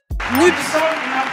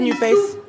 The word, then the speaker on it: NUPES: Nups ! Nups ! Nups ! Nupes ! Moi j'ai toujours dit Nupes, je trouve que ça fait sexy, ça fait sympa, Nupes. Moi, je la prononce nup.